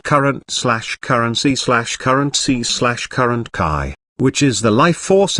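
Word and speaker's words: qi: flow be aware that the Chinese word Kai is pronounced somewhat similar to the English word c based on these occult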